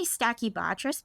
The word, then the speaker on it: stachybotrys: what I always say this word, I say stachybotrys, but I don't think I'm saying it right. Is that right? Yeah, that's right.